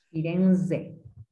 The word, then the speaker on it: Firenze: In italiano la Z si pronuncia bene. Firenze.